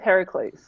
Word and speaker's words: Heracles: Well, let's go with Heracles. Hercules. All right. Yeah. Well, So I'm apparently it's supposed to be pronounced Heracles.